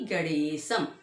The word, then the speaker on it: गणेशं: पहला श्लोक, विद्यारंभे श्री गणेशम। जो ऊपर बिंदी, स के ऊपर बिंदी है, उसे म बोलते हैं।